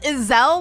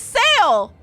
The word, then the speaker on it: Iselle: ice heart I'm sorry you pronounce it Iselle like a gazelle I've been pronouncing it as sale this endless cycle of